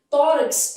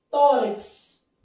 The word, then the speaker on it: tórax: Tórax é um caso de dívono. Tanto faz KS ou CS. Tórax.